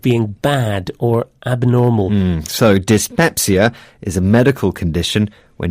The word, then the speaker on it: dyspepsia: This word starts with the prefix dis, but this time it's spelt D-Y-S.